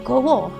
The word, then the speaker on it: gawa: Tapi itu udah bener-bener huruf gundul, dan bacanya dan penulisannya kalau dibikin dalam romaji itu gawa pakai a ya, G-A-W-A.